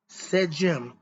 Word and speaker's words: Sedjm: Sejim, which is spelled Sedjm, Shedy.